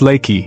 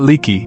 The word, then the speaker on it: Leakey: The county seat is Leakey, pronounced Lay-key, not Lee-key, though the river does whatever it wants regardless of local pronunciation agreements.